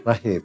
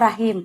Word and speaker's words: Rachim: Yang pakai C itu siapa yang nulis ya? Enggak, memang pakai C. Oh, ada pakai C. Ya. Tapi dibacanya? Rahim. Oh, Rahim.